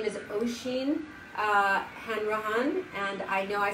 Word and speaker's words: Oisin Hanrahan: Oisin Hanrahan. Thank you. I have a name like that. Everybody pronounces it one way for the last name, and it's not pronounced the way everyone thinks.